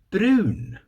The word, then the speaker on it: brun: Brun. B R U N. So we spell that in Scottish.